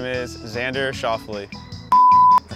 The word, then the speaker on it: Schauffele: Here are some ways my name's been pronounced. Schauffele, Schuffle, Souffle, Scaffler, Xander, Schauffele, Lee, Shovel, Xavier. That was actually one of them. The guy never got the words out. My name is Xander Schauffele.